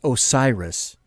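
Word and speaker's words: Oxiris: o ox iris o x IR is she's a she which I'm guessing is pronounced Osiris the X is like an S Osiris bar bot made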